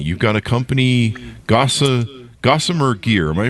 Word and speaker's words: Gossamer Gear: start your company you've got a company Gosa gossamer gear am I pronouncing that right yep Gosser gear my mom